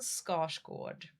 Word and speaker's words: Skarsgård: So, please if you want to impress anyone, say Stellan Scotch Gourd.